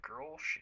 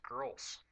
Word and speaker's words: Grolsch: I realize that I haven't reviewed Grolsch yet, and I've had a couple of people talk to them about maybe the pronunciation of the Grolsch.